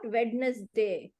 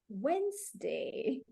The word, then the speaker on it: Wednesday: Saturday Sunday so she's like oh such bad pronunciation ashini it's not like that at all it is Monday not Tuesday Tuesday not wedness day Wednesday not Thursday you should not touch the word